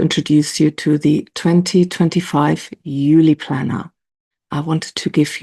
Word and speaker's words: Eule: Now, in German, we actually pronounce it Eule.